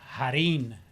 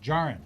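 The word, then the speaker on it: Jarrín: and his name is Nelson Jarrin. Is how you pronounce it in Spanish, but he calls himself, because obviously being a Houstonian and a Texan, many people called him Jarrin, right?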